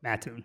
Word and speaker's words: Mattoon: Um One thing, it's Mattoon. It's a big deal. It's a big deal. No. Um Mattoon.